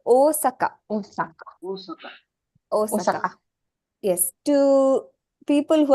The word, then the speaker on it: Osaka: I think we grow up pronouncing this word as Osaka, if I'm not wrong, right? Until you come to Japan or you learn Japanese and you understand the elongation is misplaced.